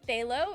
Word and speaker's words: phthalo: It's pronounced phthalo.